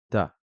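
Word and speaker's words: ت: prononcer bas bas d'accord la lettre ta ensuite correspond tout simplement au T en français il va se prononcer pareil ta le ça va correspondre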